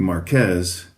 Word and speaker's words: Marqués: Uh, the Spanish pronunciation would be Marquez.